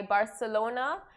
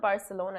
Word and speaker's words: Barcelona: in 2022, followed by Barcelona. It's not Barcelona, it's like Barcelona. That's how Barcelona. That's how they say it there. That's how the locals say it.